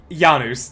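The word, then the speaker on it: Janus: The only reason I correct them on uh Janice is simply because the god of transitions is Yanuz. That's how it's pronounced.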